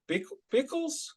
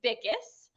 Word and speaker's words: Bickes: Bickles? No, I'm screwing that up. Everybody, even our wedding coordinator did. He called us the. It's Bickes. Bickes.